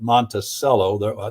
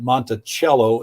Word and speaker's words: Monticello: Well, from what I understand, we pronounce it Monticello. That's the county seat where I grew up. But Monticello is evidently how they pronounce it, or maybe the Italians pronounce it. I'm not sure, because it comes from an Italian, if I recall correctly. It's Italian for little mountain.